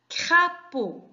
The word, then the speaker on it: crapaud: Très bien, c'est le mot crapaud. Crapaud. Alors, combien y a-t-il de syllabes dans le mot crapaud? Attention, la lettre D à la fin du mot, on ne la prononce pas, elle est muette.